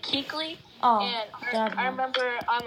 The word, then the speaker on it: Keuchel: Jalen Smith, who's replacing Keuchel because he retired, and Eric Kendricks replacing Radno due to injury. What I hate to see is young players retiring early. Yes, his name you pronounce it like Keekly.